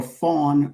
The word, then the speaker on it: Fon: The Eway or Fawn language, Ew, pronounced Eway, Fawn, Fo N.